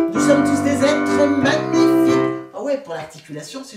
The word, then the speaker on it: magnifique: Je suis magnifique. Attention, le ng, il faut vraiment le prononcer à fond.